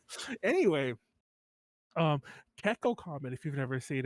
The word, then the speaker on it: Kekko: Kekkoukamen, like common, but Yeah, Kekko. It's like gecko, but with K's, all K's.